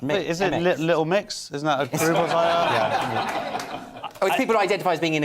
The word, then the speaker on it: Mx: use the prefix mix i think it's pronounced mix mx mix what do we make